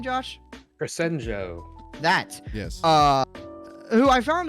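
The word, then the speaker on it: Crescenzo: Crescenjo.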